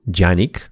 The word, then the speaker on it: Canik: nie jest poliglota bo wiem że turecka wymowa to faktycznie coś w stylu dzianig ale przecież każdy może